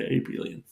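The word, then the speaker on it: abelian: then then we say the group is Aon soorry I may be massacring the pronunciation there I'll spell it for you hear it's named after a Scandinavian mathematician called AEL so maybe abilon so that's an other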